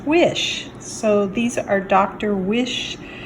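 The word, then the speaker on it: Wyche: Quite a few okra, a couple of eggplants, some cherry tomatoes, and then I Googled how to pronounce this guy's name, W-Y-C-H-E, and it's pronounced Wish.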